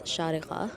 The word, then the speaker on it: Sharjah: So this is the map of the historic town of Sharjah, or it's actually meant to be said as Sharqa, which is how you say it properly.